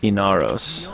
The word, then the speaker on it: Inaros: Inaros, is it? How quaint. Inaros. Alright, so that's how we're going to be pronouncing it.